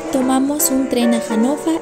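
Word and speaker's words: Hannover: para hana Ahí está Recuerden que la B se pronuncia como F hanov y la r al final como es así para tiktok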